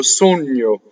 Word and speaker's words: sogno: So GN in Italian, sogno, is like the GN in lasagna. You say it all the time. Right? Gna. So it's an N and then a Y.